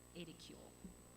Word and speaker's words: edicule: century this is called the pronounce this wrong Ada cool is how it's pronounced on the side of